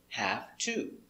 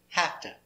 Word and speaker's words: have to: this and for pronunciation it is always correct to pronounce it have to have to and has to has to is always correct but if you listen to americans you will hear something different you will hear hafta and hasta never write